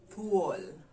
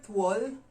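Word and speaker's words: thuol: luau to all to all so it's t-h-u-o-l to all so if you say tual someone would know you're you're referring to a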